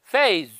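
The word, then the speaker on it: phase: देर पहले बताया था स्पेलिंग एस ई से एंड होती है ना ज्यादातर एस ई से तो ज आमतौर पर वहां बोला जाता है ज ये तो फेज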